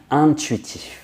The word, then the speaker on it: intuitif: These two words actually start off with the un sound. Intéressant, intéressant, and intuitif. Intuitif.